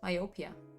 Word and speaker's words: myopia: You would say myopia in Italian, but it's myopia in English.